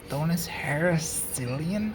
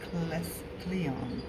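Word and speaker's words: Heracleion: How do you say that name? Thonus Heraclean? I think that's... Heracleon. Oh, Heracleon. Cool.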